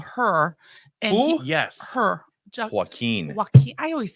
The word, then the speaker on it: Joaquin: Her Joaquin. Joaquin. I always say his name wrong. Joaquin. Joaquin. Wow. Good Lord. Joaquin. Like he's Okay. walking. Like walking.